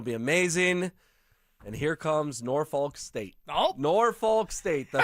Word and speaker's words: Norfolk: I really emphasize the L, Norfolk State. There's some people who are a little dicey in how they pronounce that school, which after they beat my Tigers, I'm not opposed to.